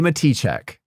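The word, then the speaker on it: Matichak: We've been saying her name wrong all this time. It says Matichek. Andy Matichek.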